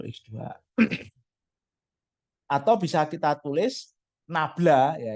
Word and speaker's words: nabla: Atau bisa kita tulis nabla, ya ini bacanya segitiga kebalik ini bacanya nabla.